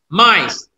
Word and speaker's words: mice: Tidak diucapkan. Okay? Example. E. Bike. E-nya enggak disebutkan, kan? Mice.